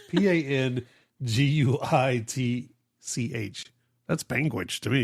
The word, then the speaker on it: Panguitch: It's Panguitch. That's Panguitch to me. It's like that's how I would say it. It's almost like a penguin sandwich.